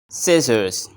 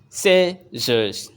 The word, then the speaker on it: scissors: be focused ready go you have 5 Seconds scissors scissors scissors here we have three sounds say Z and Z we don't pronounce z as I'm pronouncing in the word